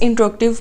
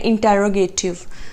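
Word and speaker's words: interrogative: Okay जी, next है हमारे पास इंट्रोगेटिव pronoun. सबसे पहले तो इसकी प्रोनाउंसिएशन आप अपनी ठीक करें। जनरली इसको बोला जाता है इंटेरोगेटिव, जबकि ये गलत है। इंट्रोगेटिव इज़ the right word.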